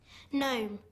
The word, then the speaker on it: gnome: surgeon sergeon s uur g e o n gnome gome g n o m e wrestle were